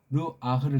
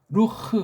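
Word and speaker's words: רוח: 한 인격을 전제로 해서 이 살, 바사르라는 이 요소의 반대편의 걸 대변할 때 르아흐를 쓴다고 해요. 근데 이 발음에서 요거 아자라고 하는 건 이건 군더더기 그냥 루흐 하면 돼요. 루흐.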